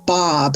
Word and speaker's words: Baab: Hello, my name is Baab, it rhymes with Saab cars, lots of people have